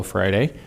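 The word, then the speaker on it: Freire: of the marxist educator paulo friday uh brazilian guy f-r-e-i-r-e that's how you pronounce it i think in portuguese and so he said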